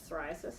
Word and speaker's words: psoriasis: What do you have psoriasis? I do. Is that how you say it? Psoriasis. PS, yes.